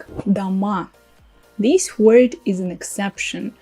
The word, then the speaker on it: до́ма: That's the word дома. As you can see, the spelling is just the same with the previous form, plural. Дома, дома. As you can see, only my pronunciation is different. Try to remember it and to make this difference, because when you say дома, it means at home.